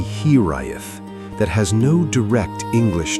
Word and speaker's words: hiraeth: There is a Welsh word, hiraeth, pronounced roughly here-eye-eth, that has no direct English translation.